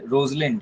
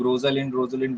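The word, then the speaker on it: Rosalind: You like it, उसमें touch stone, और इसमें रोजलिंड, हम लोग रोजलिंड बोलते हैं, एग्जैक्ट प्रोनाउंसिएशन तो है रोजलिंड की कैरेक्टर बहुत फेमस है।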